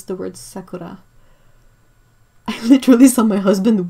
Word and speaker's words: sakura: I once had a guy trying to tell me how to pronounce the word sakura.